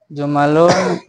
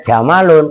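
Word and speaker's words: جُمَلٌ: Jumalun bermula jumlah-jumlah. Atat itu telah datang. Apa jumlah? Jumalun. Apa jumal? Jumal. Makanya bacanya jumalun, harokatin. Kalau kalian bacanya jamalun, onta.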